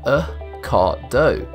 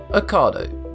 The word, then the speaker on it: Ocado: It's pronounced like avocado, without the av. Ocado. Ocado.